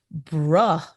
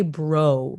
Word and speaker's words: bruh: backpack and she goes, "Bruh, this is heavy." And I was like, "I'm sorry, what?" And she goes, "Br." That's how you say it, Mom. You don't say, "Bro, you say bruh."